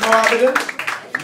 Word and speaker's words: Mo Abedin: My name is Mo Abedin. Mo is actually spelled on my passport. M-O-H-A-M-M-E-D. Hemet is silent.